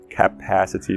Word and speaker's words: capacity: Temos vários outros sons curtos do A, capacity, pass é a sílaba enfatizada e ela tem um consoante no final, o C, então é pass e não pays, capacity.